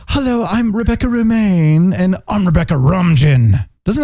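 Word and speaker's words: Romijn: and i love rebecca ramjin as number one i just love her in general i think she's awesome it's rebecca romain oh that's how you pronounce it i love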